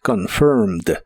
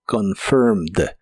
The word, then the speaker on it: confirmed: En el pasado es confirmed. Es un verbo regular, así que es similar a la forma del presente, pero el final termina con e d y solo se pronuncia la d como confirmed. Confirmed.